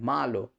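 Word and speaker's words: malo: এখানে মালোর ক্ষেত্রে এমফাসাইজটা মা উচ্চারণ হবে, মা আলো, মা আলা, রাইট দিস।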